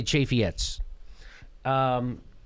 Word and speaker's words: Chaffetz: Do you say Chaffee or Chaffetz? I say Chaffetz.